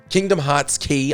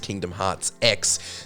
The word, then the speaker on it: Kingdom Hearts χ: Kingdom Hearts Key, often incorrectly pronounced Kingdom Hearts X, sets the earliest mark